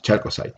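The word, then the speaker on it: chalcocite: So the biggest one in the porphyry copper deposit is the Calcosite, right? It's in Spanish they call calcocina, but they can pronounce also chalcosite.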